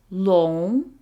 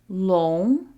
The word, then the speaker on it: 龙: And the word for dragon is 龙, 龙.